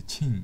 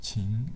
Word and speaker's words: Qing: emperor of qing dynasty not the last dynasty ching but qing is pronounced about the same different characters the qin